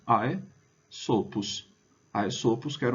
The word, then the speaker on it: Aesopus: né AES prima est Então a primeira parte é AES Opus altera sílaba altera sílaba a segunda sílaba Então é só a gente juntar ae sopos ae sopos que era